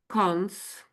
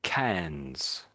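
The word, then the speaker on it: Cannes: Do you want to guess the last one? Cons. Yeah. Yeah, it's I I I hear most people say cans. Cans. You're saying cans. It's more more cans. I would say cans. Cans. That's it. So it's double n and e s there.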